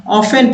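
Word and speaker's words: often: आफ्टर पढ़ने हैं तो आफ्टर नहीं पढ़ना है ऑफेन पढ़ना है ऑफेन जिसमें अब इसमें टी साइलेंट ऑफ है तो कुछ शब्द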